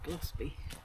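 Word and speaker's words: Golspie: the coast glossby gloss Scottish lady said glossby glossby gold mind so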